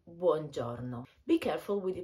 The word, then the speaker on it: buongiorno: ciao you will say buongiorno be careful with the pronunciation of this word in particular maybe you should practice the final o which is very close and doesn't present any u sound if it's after 4